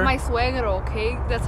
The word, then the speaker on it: suegro: It's my suegro, okay?